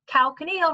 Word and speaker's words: calcaneal: So for me, that helps me remember that calcaneal rhymes with heel, but really the name of the bone itself is the calcaneus or calcaneus.